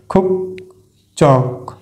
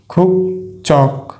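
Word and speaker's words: 국적: খুব আমরা এখানেও দেখতে পাচ্ছি বাচ্চিম হিসেবে আছে ক ধ্বনি, এরপরে আছে জিউত, তাহলে এই জিউতের উচ্চারণ আমরা কি বলবো? চ, চর মতো, তাহলে খুব চক খুব চক খুব চক খুব চক।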